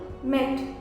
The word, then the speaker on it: mete: अब अगर हम इसमें ई ऐड करते हैं लास्ट में तो वो नॉर्मली साइलेंट होता है और जो ई साउंड है, ई का जो साउंड है ए, वो लॉन्ग हो जाता है, क्या बन जाता है, मीट, METE, मीट।